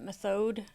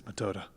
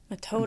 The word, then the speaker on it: Methode: I always want to say her name's Method or Methode. Mr. Ganao, Yep. bring the injured over here. Injured? You needn't spare my feelings, Metoda. Metoda.